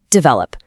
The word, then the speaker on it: develop: It becomes develop.